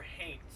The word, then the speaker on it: haint: one of the things they talked about were hate that is spelled h-a-i-n-t it is a gullah word it